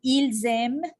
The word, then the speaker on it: ils aiment: doit faire la liaison parce que le pronom se termine par S et le verbe commence avec une voyelle. Alors, on doit faire le phénomène phonétique qui s'appelle la liaison. Dans ces cas-là, je prononcerai ils aiment, elles aiment.